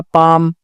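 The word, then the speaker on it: palm: है यहां पर होगा पाम तो एल साइलेंट है यहां पर ठीक है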